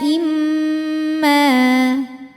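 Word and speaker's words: إِمَّا: Sabila imma. Mimnya gunnah atau gunnah musyaddadah atau mim musyaddadah atau wajibul gunnah. Karena mim bertasydid. Cara membacanya adalah didengungkan. Jadi bunyi M tahan sampai ada suara masuk hidung. Imma.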